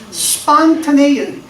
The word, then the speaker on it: spontaneous: 되게 형용사가 제일 흔하게 쓰는 게, 자, spontaneous. 자, 우리 배웠죠? 약한 액센트, 강한 액센트. 그러니까 여기서 O에 약한 액센트가 있고 A에 큰 액센트가 있습니다.